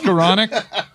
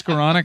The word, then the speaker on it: Skowronek: it's Skowronek. It's Skowronek. I'm sorry. And it was a game late. It's a fun. Rhymes with colonic.